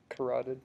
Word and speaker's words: carotid: Carotid.